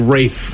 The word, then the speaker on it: Ralph: get him okay Ted it looks like Ralph but it's like Rafe is how you say it names I'm like red